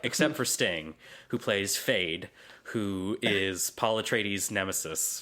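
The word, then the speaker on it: Feyd: made me think of the Kanye West song, Fade, F-A-D-E, which is, this character's name is spelled F-E-Y-D.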